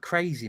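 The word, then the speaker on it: Krez: It sounds like Yeah, it sounds like crazy man, but it's it's K R E Z. So crazy man. And she's Polish. And unusually for a Polish name, it's said like it's spelled.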